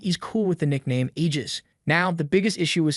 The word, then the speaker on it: Aegis: you say it is Aegis, with a strong emphasis on the G.